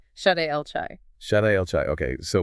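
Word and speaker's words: שדי אל חי: Pronounced Shaddai El Chai.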